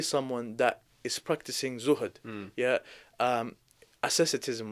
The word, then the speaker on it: asceticism: Asceticism, right? That's how it's pronounced.